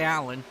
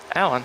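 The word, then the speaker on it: Aleon: No, he goes by Allen. Allen, interesting. Yep, but it's spelled A-L-E-O-N. go ahead and pull that spelling up here for you on screen. So it's A-L-E-O-N, so you can see what I'm saying. I know you can't see what I'm saying here, Dakota, but it's pronounced Allen.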